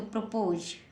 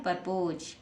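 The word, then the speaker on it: propose: ओ एस ई तो प्रपोज पी आर ओ एस एस है एस को हम ज से पढ़ेंगे जब ई लास्ट में आती है तो साइलेंट रहती है हमने आपको पहले भी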